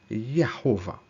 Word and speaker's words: Jehovah: why at that point J made the Y sound so when you see Jehovah initially it was meant to be pronounced as Jehovah Joshua was supposed to be pronounced as Joshua Jesus as Jesus does it matter no